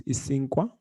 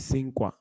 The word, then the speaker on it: isinkwa: And if you go back to our slides, you'll see that I is pronounced as E, and then SI is pronounced as C. So you would say EC, and then NKW is Isinkwa. It would be Nkwa, right? So you have Isinkwa.